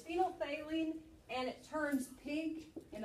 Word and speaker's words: phenolphthalein: It's called phenolphthalein. Actually, it's phenolphthalein. I say say help me spell it. All right. Say it phonetically. All right, it's phenolphthalein, and it turns pink in a basic solution.